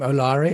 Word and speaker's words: Olaore: Olaore, is that how I pronounce it?